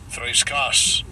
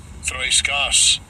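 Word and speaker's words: θρησκός: It is G2357, and I'll give you a pronunciation. Strong's G2357. Threiskas. Threiskas.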